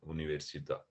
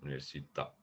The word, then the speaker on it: università: School is scuola, and university is università. Okay. Can you pronounce those for me one more time? Yes, school is scuola. Scuola, Yes, while university is università. università, Yes, the accent on the A means università.